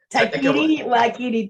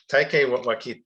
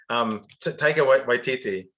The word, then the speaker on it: Taika Waititi: to an interview with, I'm gonna get his name wrong. Taikiri Wakiri da da da da. Yes, Taika Waititi. Oh my God, I can't believe I'm getting mess already. Taika Waititi.